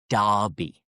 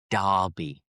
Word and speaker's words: Derby: The first one is Derby. Derby. And the same pronunciation is used for different competitive matches where two local teams face off and compete against each other.